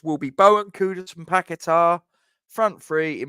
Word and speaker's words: Kudus: Still from West Ham voice says Kudosh. Kudosh? That's a new one. I've not heard that pronunciation.